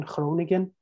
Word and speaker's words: Groningen: Groningen, or in Dutch pronunciation, Groningen gas field, which is quite giant, so it's huge.